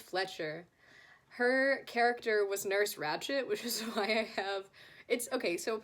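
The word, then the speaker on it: Ratched: her character was nurse ratchet which is why I have it's okay so apparently it's spelled wretched with the D at the end but it doesn't sound like that when like during the film so I put a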